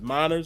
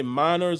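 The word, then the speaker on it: Meinerz: or uh manners models i think it is miners it's spelled m-e-i-n-e-r-z so it's probably miners or minors uh white water wisconsin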